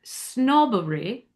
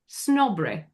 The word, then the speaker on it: snobbery: And then this next one, this is one of those three syllable words where this neutral e on the word snobbery. Some people with this accent will drop that e. So instead of snobbery, it becomes snobberry.